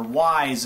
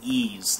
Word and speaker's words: Ys: Or Wise is like people like to say, but it's pronounced, it's actually Ys, the Ys series.